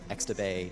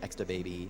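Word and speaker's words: X'tabay: It's X''Tabay, so X-to-Bay, X-to-Baby. You can invent your own pronunciation.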